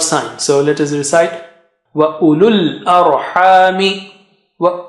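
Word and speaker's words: أولو الأرحام: You don't say u and lul, because after lam, with dhamma, there are no signs on waw, on alif, and alif. You just jump from lu to the lam sakina.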